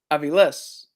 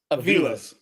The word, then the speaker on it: Aviles: So like our last name, Aviles. But to everybody else, Aviles.